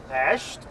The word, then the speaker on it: Pest: Pest. Oh, thank you. Yeah. I heard a correct pronunciation. Believe or not, this is not the best side because pest means a horrible disease, okay?